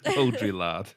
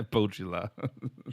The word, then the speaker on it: Baudrillard: It's French, and I'm not going to be able to pronounce it correctly. You're not going to be able to do it justice, are you? Baudrillard. Yeah, Baudrillard.